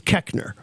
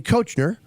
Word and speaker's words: Koechner: say your last name the correct mispronunciation of my last name is Koechner now if you look at it you go it's definitely Koechner no where in the English language does the OE make the short e sound but I